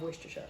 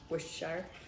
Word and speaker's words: Worcestershire: Yep, third of a cup of Worcestershire sauce. Is that indeed how you pronounce it? Worcestershire. It all depends on who you ask. You could say, some people say Worcestershire sauce, Worcestershire, Worcestershire, Worcestershire sauce.